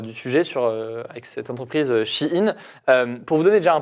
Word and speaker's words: Shein: Et on me dit, c'est pas Shine la prononciation, apparemment, c'est Shein.